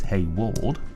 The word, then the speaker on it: Hayward: noticed I've been uh typing it as Haywood rather than Hayward and it is hey Ward I'm sure he shall